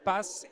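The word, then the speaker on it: HR Path: Donc je le rappelle, Associate Partner chez HR Pass, il faut le prononcer en anglais, donc Pass, et Francesca Zanizzi, C'est très bien.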